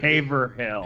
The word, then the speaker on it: Haverhill: are just playing games you're at haverhill paper hill yes that's how i that's how we pronounce it here yeah no we barely